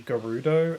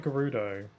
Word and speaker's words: Gerudo: confirmed that it is Gerudo, not Gerudo. Gerudo doesn't make sense to me. Why would you assume that's how it's pronounced when it's spelt with a G?